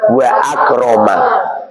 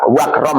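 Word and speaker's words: وأكرم: Kamu beri wawu membacanya wa akroma enggak boleh wakram itu enggak boleh.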